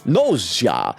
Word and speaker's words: Gnosia: They become nosa. No longer human that that no long has a silent G at the beginning of it.